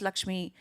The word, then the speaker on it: Lakshmi: called Laxshmi which is it's pronounced Laxmi named on the goddess of wealth and it's the dichotomy